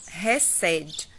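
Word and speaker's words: חסד: A pronúncia é com R, né?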